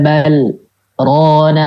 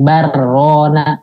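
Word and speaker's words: بل ران: Kalla bal rona ala. Bal rona ala. Jadi bukan bar rona.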